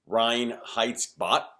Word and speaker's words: Reinheitsgebot: The word is Reinheitsgebot, is my pronunciation.